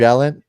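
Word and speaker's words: Valiant: Valent.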